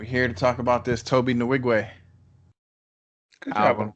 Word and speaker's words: Tobe Nwigwe: And we're here to talk about this Tobe Nwigwe. Good job on the pronunciation.